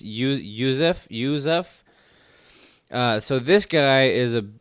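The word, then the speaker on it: Yusuff: because this guy, I don't know how to pronounce his first name. Sodiq Youssef. It's Youssef. So this guy is a up and comer. Jesus, you and these names. Sadiq Youssef.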